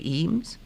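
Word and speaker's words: Eames: the husband and wife team Charles and Ray eem it's not the E we're talking about yeah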